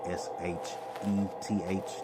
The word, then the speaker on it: Sheth: S-H-E-T-H. That was how you would pronounce it. And the original Ugarit language that they were speaking was Sheth, S-H-E-T-H.